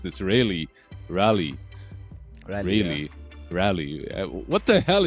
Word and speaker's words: Raleigh: get some good destination not how do you pronounce this ra rally really rally what the hell is Rally I I just Googled it it's in North